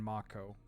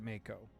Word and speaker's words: mako: it in Yu-Gi-Oh yeah Mako or is it moo M A KO o short fin the short fin Mako Shark ma moo it's Mako it depends if we're using the proper Maui definition or pronunciation or if we're using the English pronunciation it is a lone